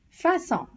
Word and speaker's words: façon: Therefore, in order to pronounce as S instead of K, we use the cedille below the letter C before the vowels A, O and U. Example, français, façon, dessus.